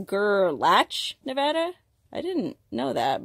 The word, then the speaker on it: Gerlach: gerlach nevada which somebody recently told me it's pronounced gerlach nevada i didn't know that but tell me